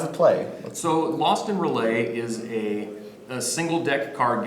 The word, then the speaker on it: R'lyeh: the game Lost in Relay? Am I saying it right? We say relay. Relay.